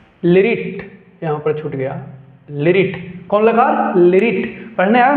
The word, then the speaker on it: लृट्: लिरिट लकार। तो ये है लिरिट लकार। कौन लकार? लिरिट। अच्छा सॉरी लिरिट। लिरिट यहां पर छूट गया। लिरिट।